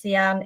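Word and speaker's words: Cian: dan long it's um spelt like the color cyan but pronounced sean it's uh very easy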